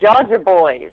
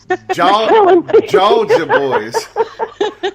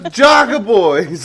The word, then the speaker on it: Georgia Boys: It's Georgia Boys, like Georgia, only with an accent. They just spell it funny. My bad. Georgia Boys. I thought it was Jogger Boys.